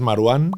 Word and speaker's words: Marwán: ¿Cómo se pronuncia tu nombre? Lo dije bien, ¿no? Sí, es Marwan, el nombre.